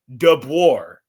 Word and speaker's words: DeBoer: And I was trying I hopefully I pronounced your name your last name correct. Dour. Was I close? Yeah, you got it.